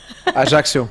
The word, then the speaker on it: Ajaccio: Ajaccio. Thank you. That was much better than how I was going to pronounce it.